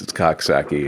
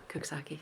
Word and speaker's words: Coxsackie: All right, now this one, I don't think it's Coxsackie. Is it Cooksaki? Cooksaki. Yeah. Cooksaki. And we're getting a little... It's like cook, right? Yeah. Cook. It's like Cooksaki.